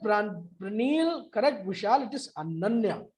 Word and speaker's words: अनन्या: तो बाद में मैंने उसको पूछा बेटा कैन you tell me the spelling, और जब उसने बताया ANANYA तो मैंने कहा अच्छा अनन्या, and then again she said yes सर ओनोना, right, like rasgulla. बिल्कुल बिल्कुल राइट।